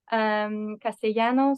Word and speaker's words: Castellano: How do you pronounce it? Castellano, Castellano? Castellano.